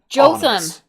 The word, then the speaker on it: Jotham: Jotham. Jotham. Yeah. Like Gotham, but with a J.